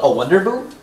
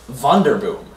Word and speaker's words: wonderboom: It's called a wonderboom, but it's pronounced vonderboom.